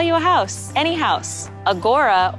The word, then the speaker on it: Agoura: Agoura, or Agoura as some people pronounce it, I've never totally understood, but I'm going with Agoura.